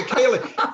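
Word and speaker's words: céilí: knew I pronounced it wrong. Okay, Kaylee.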